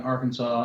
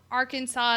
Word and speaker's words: Arkansas: Um because like you pronounce Kansas as Kansas and not Kansas, but you put an you put an ar in front of it and all of a sudden it's you know Arkansas, but it's our Kansas.